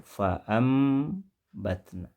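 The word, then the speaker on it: فَأَنْبَتْنَا: Ditulis fa'an batna, dibaca fa'am batna. Berarti ada perubahan, ada bunyi yang diganti, ya, yaitu bunyi nun mati fa'an menjadi fa'am. Nun mati posisinya diganti dengan bunyi mim mati.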